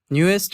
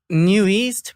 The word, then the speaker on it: NU'EST: is aaron i'm from the group newest or new east however you guys pronounce it and how do you pronounce it i pronounce it new east but then that's what it is i guess so yeah it's never been clarified but um yeah it's